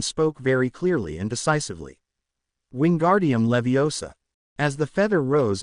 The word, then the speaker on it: Wingardium: It's Wingardium Leviosa. Make the gar good and long and put the stress on the o in Leviosa, not the a.